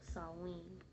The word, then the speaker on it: Samhain: from so originally the name is salween or samhain is the way how um it looks like it's pronounced but it's actually pronounced sawwing and it was celebrated by pagan celebrators who